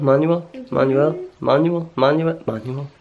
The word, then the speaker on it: Manuel: Manuel? Not reading the manual. Manuel.